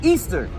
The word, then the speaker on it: Ishtar: So it says Semiramis became known as Ishtar, which is pronounced Easter.